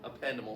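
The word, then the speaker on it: ependymal: It kind of rhymes with dependable. So, appendimal cells.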